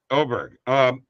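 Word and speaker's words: Åberg: Oberg, is that how you say his name? Yep. Ludwig Oberg. Oberg.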